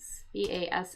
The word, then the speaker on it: bass: um pronunciation is this b a ss ss but sometimes this is actually a fish a fish and the pronunciation is actually bass which is kind of funny.